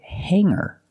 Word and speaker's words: hanger: Remember hanger does not have a hard g sound.